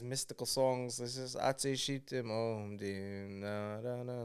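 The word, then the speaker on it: שיטים: say shitim. I'd say shitim. Okay. Which is like all over, in the it's everywhere. Rabbi Shimon Bar Yochai's mystical songs. This is Atzei Shitim Om Dim Na Na Na Na Na.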